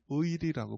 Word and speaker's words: 의리: 그래서이 충성이란 말을 다른 말로 한다면 저는 의리라고 봅니다. 한번 따라해 볼까요? 의리. 예.의 발음이 굉장히 어렵죠.